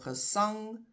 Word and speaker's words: gesang: So the emphasis is on the last part, sang or ang. And that is why it just gets an e. So gesang, gesange.